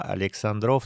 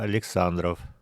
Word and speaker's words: Александров: Здесь ударение Александров на последний слог, как обычно в удмуртском языке, но это не обязательно. Можно и сказать Александров.